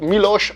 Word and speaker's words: Miloš: À savoir que justement le S avait l'accent à l'envers, donc je pense que ça doit se prononcer plutôt Miloš Avramovic.